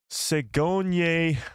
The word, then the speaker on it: Sigourney: Her name is pronounced Sigourney with a double E sound, Mike.